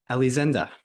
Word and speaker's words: Elisenda: Elisenda. You're pronouncing it right, Matthew.